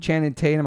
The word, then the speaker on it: Channing Tatum: Nikki for Billboard, Margot Robbie, who I love, Channing Tatum. I always say his name wrong.